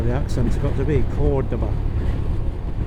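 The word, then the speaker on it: Córdoba: Cordoba. Now it's Cordoba. I reckon it's Cordoba because the accent is over the first O, so that's where the accent's got to be. Cordoba.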